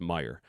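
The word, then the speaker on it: Meijer: Uh, and it's pronounced Meyer. A lot of people here in Michigan will put a S on the on the back of it and call it Meyers.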